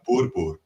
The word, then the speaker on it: Boer: So Dutch is my second language, and then you pronounce it Boer. Boer. You got it Boer. Like you got to rolling the R's.